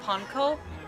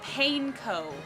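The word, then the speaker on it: panko: I hate the way Food Network pronounces ponko. That's the thing that just rubs me the wrong way so badly. Is the way no, they call it painco.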